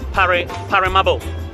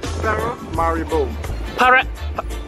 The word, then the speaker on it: Paramaribo: So it's pronounced as Paramaribo. Paramaribo.